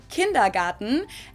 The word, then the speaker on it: Kindergarten: ones and that is kindergarten in German we pronounce it kindergarten and it literally means Children's Garden and even